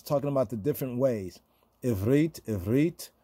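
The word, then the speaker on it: עברית: Sephardic say Ivrit, Spanish-speaking Moreno Jews, right? The Ashkenazi say Ivris. Remember what we were saying about the Ashkenazic pronunciation? Ivris. Because like the T at the end, in many words in the Ashkenazic pronunciation, it sounded like an S.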